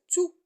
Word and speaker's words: tout: On conclut que tout devant un verbe, il se prononce tous. Mais à côté d'un nom, il se prononce tout.